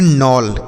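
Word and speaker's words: knoll: होता है खटखटाना अगला के एन ओ डबल एल इसे हम पढ़ते हैं नोल के एन ओ डबल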